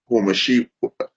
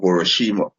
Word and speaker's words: Hiroshima: atomic bomb on Yomashi or Nagasaki and um Homashi Salakia. I ain't pronounce the name properly.